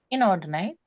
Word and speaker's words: inordinate: So how would you pronounce that one again? Inordinate. That's it. Inordinate. Inordinate. Inordinate. Okay. Yeah, Inordinate. it's more. There's a little bit of variation sometimes, but that's okay.